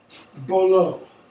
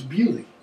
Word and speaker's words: Beaulieu: They say Bolo. It's not, it's Beaulieu. Is that an N? No, it's a U, sorry. Oh, okay. Beau, like in beauty, okay?